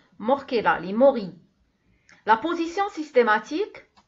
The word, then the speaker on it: Morchella: Ça s'écrit avec un CH, ça se prononce Morchella, les morilles.